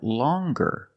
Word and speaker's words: longer: nasal sound long but then you have longer where we have the hard G sound longer with a nasal sound plus the hard G longer and we have the